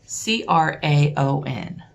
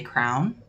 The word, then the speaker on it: crayon: But I've heard people say crown, and I've heard people say crayon. Like C-R-A-N, crayon. Or C-R-O-W-N, crown. I say crayon. That's how it's spelled. C-R-A-Y-O-N, crayon.